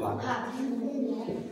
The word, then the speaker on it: ভাত: ভাত বানান কি? ভয়াকার ত, অসন্ত আছে নেই, তার মানে অ আছে বানানটার মধ্যে, তাহলে উচ্চারণটা হওয়া উচিত ছিল ভাত, আমরা বলি ভাত।